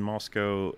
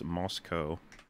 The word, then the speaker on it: Moscow: in Moscow I and we always pronounced it in the Russian Place mosow yeah the only other pronunciation I've heard is Moscow but yeah yeah it seems to be the American one though there you go